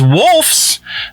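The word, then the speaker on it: Wolfs: thing in here is wolfes the new Brad Pit Georgia yeah did not say that incorrectly W lfs is the how the movie is spelled but the new Brad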